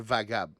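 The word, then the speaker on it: Wagab: W-A. G-A-B, parce qu'avec la prononciation espagnole, ça fait Vagab.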